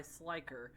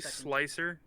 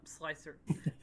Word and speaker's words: Slicer: is hosted by by slyker the dating app for weapons for context isaac was is one of those wouldn't it be slicer oh slicer thank you josephine i'm